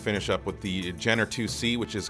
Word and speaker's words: IIC: It's pronounced 2C, but it's using Roman numerals, so it is the letter I. But yeah, I sometimes hear people saying IIC.